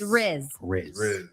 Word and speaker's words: rizz: is easy all right it rhymes with jizz and it's spelled just like jizz so it's rizz yes now I don't